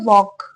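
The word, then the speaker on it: walk: यह क्या वर्ड है वॉक इसमें एल साइलेंट होता है ठीक है ऑन अ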